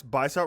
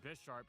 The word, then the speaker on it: Bisharp: Bisharp, I always pronounce Bisharp like bisexual and sharp.